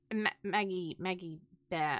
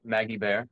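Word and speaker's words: Maggie Beer: Maggie Bear. It's Maggie spelled Bear. Beer, but it's pronounced Bear. Sick, Maggie Bear.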